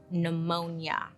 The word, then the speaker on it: pneumonia: little 8-year-old Rasputin caught pneumonia first of all why did they put that P in front of pneumonia does anybody know no